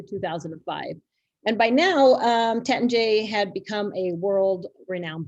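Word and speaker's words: Taittinger: bit of confusion is how to pronounce the family name is it tettinger or is it tetenje it's tetan j um the house was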